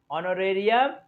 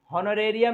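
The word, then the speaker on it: honorarium: आगे आते हैं, ऑनररी मैन, देखिए यहां भी है, एच को साइलेंट करना है, तो क्या होगा, ऑनोरेरियम, है ना, ऑनोरेरियम, हॉनोरेरियम नहीं होगा, ऑनोरेरियम होगा, एन ऑनोरेरियम, है ना, ध्यान दीजिएगा।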